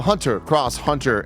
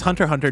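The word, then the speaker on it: Hunter × Hunter: live switch and PC would you believe that the cross is silent yeah I would it's Hunter Hunter net impact great and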